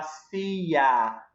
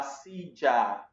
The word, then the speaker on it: silla: Tenemos aí la silla ou la silla. Dependendo do país aí, vou pronunciar de maneiras diferentes.